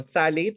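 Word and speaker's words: phthalates: remove personal care products that has fragrances uh phalates so phalates is spelled as p h p h a l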